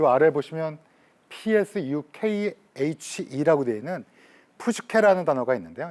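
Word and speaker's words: ψυχή: 푸슈케, 이 아래 보시면 PSUKHE라고 되어 있는 푸슈케라는 단어가 있는데요. 이 푸슈케는 딱 들어도 약간 의성어 느낌이 들지 않으십니까요? 푸슈, 이렇게 호흡을 내뱉는 푸슈케, 이렇게 발음이 되는데요.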